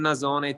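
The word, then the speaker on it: nasone: Nazone, is that how you say it? Yeah, one nazzone, two nazzoni.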